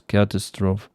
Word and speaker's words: catastrophe: I think it's charming that you pronounce catastrophe like the French do.